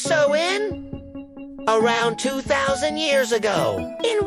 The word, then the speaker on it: Samhain: The roots of this spooky holiday go way back to an ancient Celtic festival called that spelled sm and pronounced so in around 2,000 years ago in what we now know as Ireland in the UK.